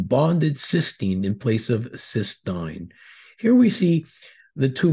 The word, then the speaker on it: cystine: at another amino acid ctin again please note the difference in spelling and pronunciation compared to cysteine cysteine is two cysteine